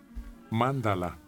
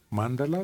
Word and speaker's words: mándala: A ver, pronunciación. Mándala. Mándala del sánscrito clásico.